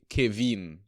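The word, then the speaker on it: Caoimhín: first name wrong I'm sure um oh it's pronounced K Kavin yeah Kavin k right okay yeah see I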